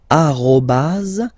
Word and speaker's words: arrobase: So officially we called it arrobase, okay, but then, well, let's be honest, we